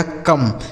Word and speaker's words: come: COME, इसे पढ़ा जाएगा कम। COME कम। सी से क, ओ का उच्चारण अ, ME से हो गया मैं, लिखा है कम।